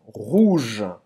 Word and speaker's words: rouge: Não pronuncia esse E no final. Você vai terminar nesse J, J aqui do G. Exatamente.